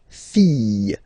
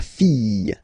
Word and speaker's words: fille: And then the feminine form, the daughter, la fille. Yeah. Okay, so this L here and E will give you the sound Y. La fille. La fille.